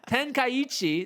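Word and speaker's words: Tenkaichi: buai Tenchi oh still said it wrong ten kichi there uh the next installment of budai ten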